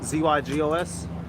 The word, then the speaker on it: zygos: that say zeitgeist so it should be zyg spell it z-y-g-o-s yeah zygos or bondage slavery is to contrast